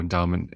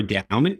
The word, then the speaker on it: Endaoment: So I mentioned at the beginning, Endaoment is spelled a little differently than you would expect it to be. Endaoment. We like wordplay, and that's part of the reason why DAO is in the word endowment, but it's more than that.